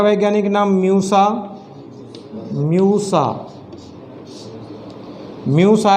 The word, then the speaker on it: Musa: केले का वैज्ञानिक नाम म्यूसा, म्यूसा, म्यूसा है, इसको म्यूजा भी बोल सकते हैं।